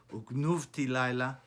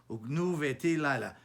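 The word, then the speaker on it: וּגְנֻבְתִי לָיְלָה: It's not pronounced genuvti yom uknuvti laila, because if it normally has a kubutz, tenor haketana, the sheva afterwards is usually a sheva nah. But here it's not. It's pronounced as a sheva nah. Genu veti yom ugnu veti laila.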